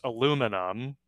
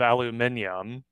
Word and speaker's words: aluminum: Another one that we say differently is aluminum instead of aluminium.